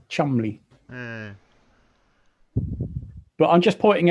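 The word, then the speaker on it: Cholmondeley: is spelled it's spelled Joel mandley but it's pronounced chamley but I'm just pointing it out to somebody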